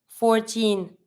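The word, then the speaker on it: quatorze: 14, 14. Same as the one we saw before, 4. QU, don't pronounce the U. 14. And same as usual, never pronounce the final E. Don't say 14, 14. You just stop at the Z.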